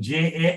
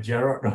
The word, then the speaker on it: Jarod: Sorry, when I pronounce your name, it sounds like I'm saying Jared, Jarod, but Jarod.